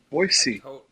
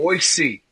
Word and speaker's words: Boise: Last night, Boisey Boy. Did I say it wrong? Boise. Boise. Boisey. Yeah. Boy. Yeah. Not Boise. Not a Z.